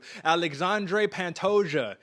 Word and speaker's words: Alexandre Pantoja: number five i mean i'm gonna show you how to pronounce it right here aj i got you alexandre pantosia number five alexandre pantosia